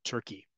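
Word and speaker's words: Türkiye: its name to turke it's the way you pronounce it in Turkish so it's not to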